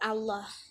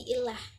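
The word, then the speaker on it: الله: Kemudian untuk lafaz, kan tadi sempat dijelaskan bahwa alif lam itu dibacanya il dalam Amiyah Mesir, tetapi dalam kata atau kalimat Allah itu dibacanya tetap Allah, bukan menjadi ilah.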